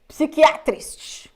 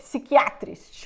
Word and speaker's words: psychiatrist: sauce see next word psychiatrist no we don't say psychiatrist we say psychiatrist psychiatrist so we have